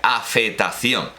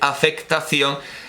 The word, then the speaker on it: afectación: Bueno, por cierto, nótese que en el siglo XVII se decía y escribía afetación. Pero el culteranismo hizo que se escribiera afectación, y de no pronunciarlo, porque los españoles decían afetación y afeto, pasó a escribirse y decirse afectación y afecto.